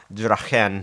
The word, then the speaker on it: Draen: Draen, uh, not going to lie, I did uh, look up the pronunci actual pronunciation of your name, Draen. It's German, right? That's the actual pronunciation.